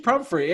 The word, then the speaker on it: Pumphrey: we have with us Paige Humphrey is how you say your last name right Paige okay yeah Paige prom free and for though for